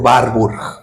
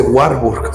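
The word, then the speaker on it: Warburg: que se llama efecto barbur que fue un científico alemán no gringo alemán así que no se dice warb se dice barb así es er alemán alemán no gringo alemán que quede claro él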